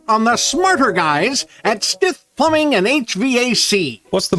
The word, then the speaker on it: Stith: Stith. Sounds just like it's spelled.